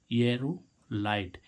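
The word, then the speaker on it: aerolite: तो इसका उच्चारण क्या होगा, एरोलाइट।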